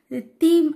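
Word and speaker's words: theme: தீம் அப்படின்னு சொல்கிறதுக்கு பதில் டீம் அப்படின்னு சொல்லிட்டேன். அது தப்பு தான், நான் அக்செப்ட் பண்ணிக்கிட்டு அந்த வீடியோவே நான் டெலிட் பண்ணிட்டேன்.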